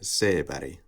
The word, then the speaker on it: Seberg: So I believe the first name should be pronounced in an American way, and then the Swedish surname I'm just going to pronounce in the Swedish way. So Jean Seberg.